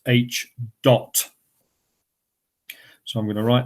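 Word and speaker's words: Ḣ: This is pronounced H dot.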